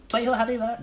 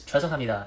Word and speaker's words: 죄송합니다: I think the worst part is that when he says please is 죄송합니다. Like, it's not even how you pronounce it. It's 죄송합니다.